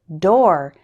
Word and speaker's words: door: The word door is pronounced like store and for.